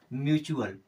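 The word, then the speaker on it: mutual: टी यू ए एल यहां पर भी टी के बाद में यू ए एल आ रहा है यानी कि टी का उच्चारण हो जाएगा च की तरह और टी यू ए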